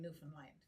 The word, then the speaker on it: Newfoundland: I'm originally from Newfoundland, Canada, but No. If you can say understand, you can say Newfoundland. Newfoundland.